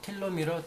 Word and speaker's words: telomere: 텔로미러 또는 텔로미어라고 읽기도 하고 텔로미어라고 읽습니다.